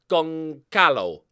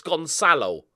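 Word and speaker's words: Gonçalo: Willy on it right it's always pronounced like the C in bus so it's gone silo also me remembering that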